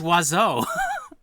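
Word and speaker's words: oiseau: where it's like oh the french almost never use all of the letters in every word it's pronounced wazo fill all of these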